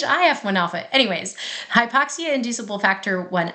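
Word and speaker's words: HIF-1α: should just call it hi1 Alpha h1f I I can't say it like that because it's hi F1 Alpha anyways hypoxia inducible Factor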